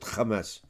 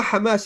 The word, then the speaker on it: Hamas: in the West Bank no Kamas this is how the Jews pronounce it Kamas there's no Hamas in the West Bank they killed still 250